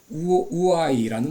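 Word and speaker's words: οὐαί: 여러분, 화 있을진저라는 말은 이제 헬라어로는 우아이라는 말입니다. 우아이. 영어로는 워이라는데 여러분 비슷하게 발음이 됩니다.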